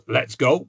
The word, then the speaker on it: Letshego: She's from a bank which is, I'm going to pronounce it as Letshego, because from what I can see in conversation with Angel, it's quite dynamic. It doesn't just sit still, it says, let's go.